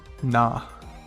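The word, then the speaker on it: な: next up we have a nun that's been very naughty what has this naughty non-done one may ask you can see the non hear kneeling praying for forgiveness nah nah good job what am i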